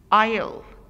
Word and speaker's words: aisle: Aisle, aisle. الاس here is silent.